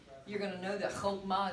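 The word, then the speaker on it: חכמה: So again, content, you're going to learn vocabulary, and once you learn vocabulary, you're going to know that chokmah is not pronounced chakmah, right? Wisdom, chokmah.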